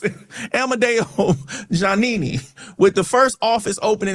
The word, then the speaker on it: Giannini: Bank of America Corporation was founded in 1923 by Amadeo Giuliani. Giannini, that's how you pronounce it. Amadeo Giannini, with the first office opening in San Francisco, California.